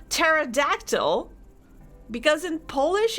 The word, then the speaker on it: pterodactyl: weird for me that you don't say pee in pterodactyl because in Polish it's